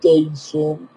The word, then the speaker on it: Dycem: Today I would like to share with you what I call the Dyson and it's spelled DYCEM and is made in England.